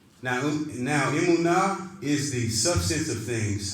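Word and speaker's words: אמונה: Emunah.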